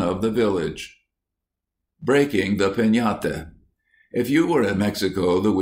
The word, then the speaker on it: piñata: But everywhere, children would be talking about breaking a piñata, pronounced piñate, as you talk of having a tree.